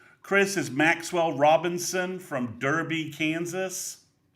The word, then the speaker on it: Derby: is Maxwell Robinson from Derby, Kansas. Okay. Or I guess Darby, depending upon your uh your your preferred pronunciation of the of the town in England.